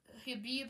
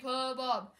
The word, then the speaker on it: Habob: say my name uh Habib habab no sir it's referred to as habob as in Habib habob as in corn on the cob now you have to